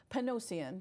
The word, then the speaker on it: Panosian: Welcome to Panosian. Did I say it right? No, Yeah, no, that's you. okay. I told you. It's Panosian.